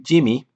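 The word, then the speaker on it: gemmae: Liverworts can produce these tissues called gemmy, or rather I should say I actually wrote the pronunciation here, Jimmy, apparently, which are little groups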